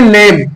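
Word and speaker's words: lamb: ऐसे ही लेब, लैम्ब है ना, इसको हम बोलेंगे लेब। क्यों, क्योंकि एम के बाद में बी आया है तो रूल के अकॉर्डिंग हमारा जो है बी साइलेंट हो जाएगा।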